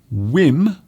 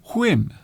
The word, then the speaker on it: whim: Some people say whim. Others say whim. Whim. So it's almost as if they are blowing the air from their mouth as they say the word whim.